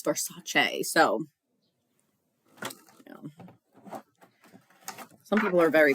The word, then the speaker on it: Versace: who go on rants about people who say versace because they're like that's not the correct way to pronounce it it's for sachet so some people are very picky about that